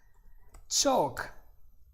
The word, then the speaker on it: chalk: And if you guys don't know what chalk is, let's check it out together. Chalk. Here you go. Yes. And look at the, listen to the pronunciation. Chalk. All right. Without the L.